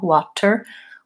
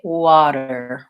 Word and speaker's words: water: you now is that what Americans will do for the word water is that rather than saying an aspirated tea liked in water that's more a British or Indian English style water we tend to say water we use what's called a flap T on that tea sound it sounds pretty much like a light D so I can think